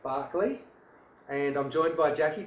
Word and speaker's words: Berkeley: Hi, this is here, founder and CEO of Complete Removals, and we're in Berkeley Nest Agencies, pronounced Barkley, and I'm joined by Jacqui Dunn, and Jacqui's a close personal friend.